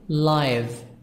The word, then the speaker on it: live: live in Egypt but here is an adjective so we pronounce it live which means happening now so then there is